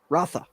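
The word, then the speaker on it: Rautha: How do you pronounce Fade's last name? Fade Rotha. Rathu? Is that it? Rotha.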